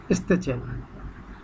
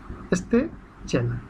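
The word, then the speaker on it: styczeń: জানুয়ারিকে বলে পোলিশ ভাষায় স্তেচেন। স্তেচেন, STYCZEN, স্তেচেন, স্তেচেন।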